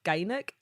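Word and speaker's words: Gynack: I was just wondering, is that how you pronounce it, or is there a different way to say it? No, that's about right. Yeah, that sounds right. Nice. Yeah. So Loch Gynoch or Gynoch Road would be about good.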